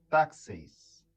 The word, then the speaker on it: taxeis: Em grego, pronuncia taxeis.